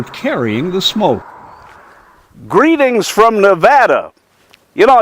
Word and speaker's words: Nevada: and when I moved there I called it Nevada and everybody said no it's not Nevada it's Nevada I said that's kind of ugly sounding they